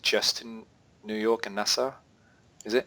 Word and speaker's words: Nassau: So what does NY, how do you pronounce that? NASA? Nassau, yeah.